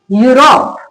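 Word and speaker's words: Europe: क्या लिखा है, किसी वर्ड के अंदर ई यू लिखा हो तो उसका उच्चारण ई से नहीं होगा, उसका उच्चारण किससे होगा, यू से होगा।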